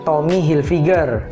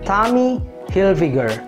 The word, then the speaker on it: Tommy Hilfiger: fashion dari Amerika ini sering kita baca sebagai Tommy hilfiger atau Tommy hilfiger atau Tommy hillfiger dan masih banyak lagi mis pronounce yang lain dari brand ini tapi pengucapannya yang benar sebenarnya sangat sederhana yaitu Tommy hillfigure Tommy hilfigure Tommy hillfigure Tommy